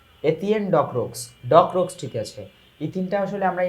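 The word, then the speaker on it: Étienne Decroux: Partha to call the opportunities to learn from mister e-TIN ডকরক্স হওয়ার কথা, e-TIN ডকরক্স, চলো দেখে আসি আসল অর্থটা কি হবে বা আসল উচ্চারণটা কি হবে। এই যে এতিয়েন ডকরক্স ঠিক আছে, ইথিনটা আসলে আমরা ইংরেজিতে বলি, ওইটা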